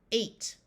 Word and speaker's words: eight: is also a with the GH being silent eight like the number th in this word